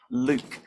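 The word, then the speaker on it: lewk: Luke, I presume it's pronounced Luke. L-E-W-K, Luke.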